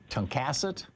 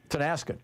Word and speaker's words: Tonasket: Paul in Tonkassett, Washington. Am I saying it right, Paul? Tonasket.